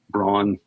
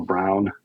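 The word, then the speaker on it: Braun: um during the 60s for Brawn um or brown I've heard pronounced both ways so all kind of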